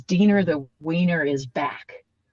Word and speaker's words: Diener: the film it says Diener Mm. the Wiener is back. So that we all know how to pronounce his name. It's like Diener rhymes with Yeah, Wiener.